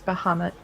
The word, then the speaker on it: Bahamut: that in final fantasy it's bah humbug but in D&D it's Bahamut I think there's a